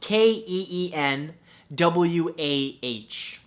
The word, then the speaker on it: quinoa: beautiful thing number two quinoa spelled ke en wuah no that's not how it's spelt at all but it should right come on English now